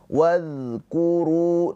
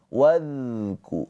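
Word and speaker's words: وَاذْكُرُوا: Maka ketika pengucapan huruf dza sukun dialirkan hurufnya. Wadku, wadku. Jangan tertahan. Jangan tertahan. Wadku, wadku. Tapi wazku gitu ya.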